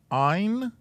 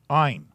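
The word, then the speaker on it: עין: this is called an ein is that how it's spelled i don't remember oh nope ein and it neither one of these has a sound they are a placeholder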